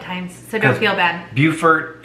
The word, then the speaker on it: Beaufort: so don't feel bad beaufort and beaufort spelled the same pronounced different there's a beaufort north